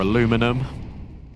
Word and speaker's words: aluminum: Um, aluminium or aluminum as the kids say in America, but I'm from the UK unfortunately, so it's aluminium.